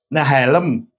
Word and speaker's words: Nehalem: nehelem dan besesmir ya kalau kita nyebutnya nehalem gitu ya kalau dalam bahasa Inggrisnya bukan ya Nah helm kalau mau bacanya ya Yang ini wesmir